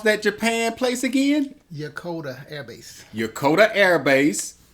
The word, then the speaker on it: Yokota: Jonathan, pronounce that Japan place again? Yokota Air Base.